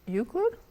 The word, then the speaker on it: Euclid: from Central Michigan and he is CEO of uid is that how you say it that's correct